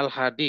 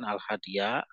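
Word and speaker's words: الهادي: adarsul Hadi asyar Nam itu bacanya Alhadi ng Alhadi Bukan alhadiah nantiabnya dia itu itu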